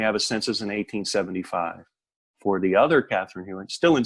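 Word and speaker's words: Pfordt: And that golden nugget was a family tree for the Fort family. It's pronounced F-O-R-T. It is spelled P-F-O-R-D-T, the Fort family.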